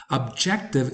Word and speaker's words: objective: Objective is also commonly mispronounced. The stress should go on the second syllable and not on the first one.